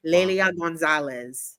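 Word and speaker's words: Lélia Gonzalez: Lelia Gonzalez. Yes. Go off. Go off. First of all, you ate that pronunciation.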